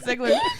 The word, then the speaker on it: Ziegler: So the Packers and the Zigglers and the Steelers.